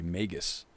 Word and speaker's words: magus: completely forgot let's see magus typically has a hard g really magus thank you for the